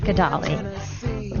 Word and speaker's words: Gedaly: And how do you pronounce it? Gedaly, correct? Gedaly.